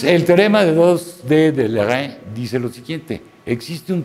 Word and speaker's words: Leray: Bueno, ahora vámonos con Monsieur Leray. Se pronuncia Leray en francés.